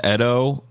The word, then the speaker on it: Edo: Originated in Japan during the Edo period, or I think it's actually pronounced Edo period, which was from 1603 to 1868.